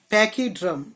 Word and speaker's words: pachyderm: हाँ, तो ये वर्ड की स्पेलिंग लिखो, PACHYDERM, PACHYDERM, DERM, पैकीड्रम, पैकीडम।